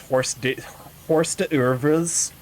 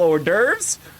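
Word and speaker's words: hors d'oeuvres: So, whenever I would read it referenced in a book, I would read it as horse horse.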